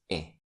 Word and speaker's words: est: The pronunciation of the verb to be in the third person singular is e. But when followed by the indefinite article the t is pronounced because of leazison.